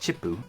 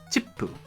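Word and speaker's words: チップ: The tsu character here is not pronounced. When it's small like this, it's called a chiisai tsu. It draws out the syllable a little, and when you write it in romanji, or English text, you double up on the following letter.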